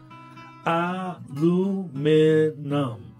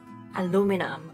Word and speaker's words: aluminum: is British aluminum so this word has a different number of syllables in American version and the British version right four in the American pronunciation aluminum and five in the British pronunciation they are spelled slightly different to with the British version having an extra I aluminum aluminium wow they